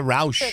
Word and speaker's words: Rauch: Is that how you pronounce her Rauch, name? yeah. Melissa Rauch.